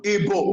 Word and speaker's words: Igbo: the land, those whom he met called him Igbo. Igbo. In the tongue of the ancient people who lived in that land is simply Oyibo, the fair one. Igbo means the fair one, which they call Oyibo today.